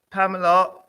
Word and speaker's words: Pamela: Oh, we'd say Pamela, but in Jamaica, we would say Pamela. Well, I just wanted to introduce Pamela Rowena, and Joanne.